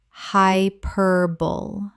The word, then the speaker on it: hyperbole: Common mispronunciation, hyperbole. Correct pronunciation, hyperbole. Four syllables. The E at the end is pronounced. This surprises almost everyone.